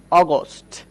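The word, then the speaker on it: August: আবার দেখেন আমি যদি বলি, এই যে বানানটা খেয়াল করেন, অগস্ট। অগস্ট, অগস্ট, অগস্ট মানে হচ্ছে আগস্ট মাস, আগস্ট মাস। ওকে, তো এখানেও কিন্তু এই ইউ আছে, এই জন্য অ উচ্চারণ করলাম।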